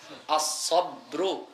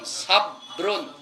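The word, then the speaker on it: صبر: আমরা বাংলাতে যদিও সবর বলি, কিন্তু আরবিতে শব্দটা হইল আস-সাবরু, ওয়াস্তাঈনু বিস-সাবরি, বার উপরে জজম, বার উপরে জবর না। বাংলাতে তো জবরের মতো উচ্চারণ হয়ে যায় সবর, কিন্তু আরবিতে বার উপরে হচ্ছে জজম, সাবরুন, সাবরুন।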